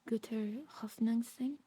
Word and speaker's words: guter Hoffnung sein: I think you say it like Guter hoffnung sein.